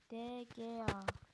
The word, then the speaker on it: De Gea: De Gea. De Gea diye okunuyor da evet 4 milyon gibi bir değeri var.